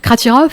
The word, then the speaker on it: Kratiroff: Donc mon invité donc est Hubert Kratirov, j'ai bien prononcé hein.